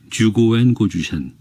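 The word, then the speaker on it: 十五円五十銭: 그 남자는 군인의 질문이 너무도 갑작스러워 잠깐 멍하게 있었지만 곧 확실한 일본어로 대답했다. 듀고엔 고주센. 좋아. 아, 그 젊은 시루시반텐이 조선인이었다면, 그래서 추고엔 코주센이라고 발음을 했더라면 그는 그곳에서 곧 끌어내려졌을 것이다.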